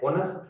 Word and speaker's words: honest: honest කියලායි ශබ්ද වෙන්නේ. හොයන්න හරි. honest. H silent letter එක විදිහට මෙතන තියෙනවා.